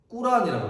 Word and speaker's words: 꾸란: 그때가 610년이었고 우리 그 이슬람교의 경전을 꾸란이라고 그러죠. 옛날에는 코란 그랬는데 그거는 영어식 발음이고 지금은 이제 아랍어 그대로 가져오는 거죠. 그래서 꾸란이라고 하는데 이 꾸란이라는 말 자체가 읽으라라는 말입니다.